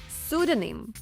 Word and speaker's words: pseudonym: Перша літера пі тут не вимовляється, тому запам'ятовуємо pseudonim.